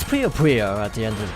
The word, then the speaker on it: Puyo Puyo: Or it's actually Puyo Puyo, but I for some reason always say Puyo Puyo, but it's Puyo Puyo. So I'm trying to get into the habit of saying it right.